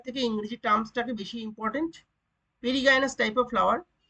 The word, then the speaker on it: perigynous: স্তরে একই স্তরে থাকে তাকে আমরা কি পেরিগাইনাস বা পেরিজিনাস বাংলায় বলছি লেখা আছে কিন্তু এর একচুয়ালি উচ্চারণটা হচ্ছে পেরিগাইনাস ফ্লাওয়ার বা পেরিগাইনাস ফুল পেরিগাইনাস